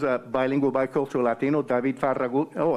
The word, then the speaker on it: Farragut: The first full admiral of the United States Navy was a bilingual, bicultural Latino, David Farragut. Oh, it's pronounced Farragut in D.C.